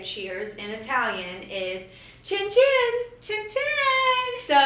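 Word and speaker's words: cin cin: casual way to say cheers in Italian is chin chin. Chin chin. So, you're supposed to look someone in the eyes when you cheers them and you go chin chin.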